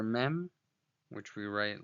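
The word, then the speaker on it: מם: So that's the letter mem, which is voiced as a bilabial nasal, making an sound, as in the word market. Okay, but here too we see that the letter mem has a sofit, and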